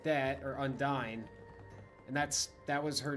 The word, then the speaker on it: Undyne: i look at that even though you're meaning as undyne i see undini like i see the e pronounced differently than it just being dine but i totally understand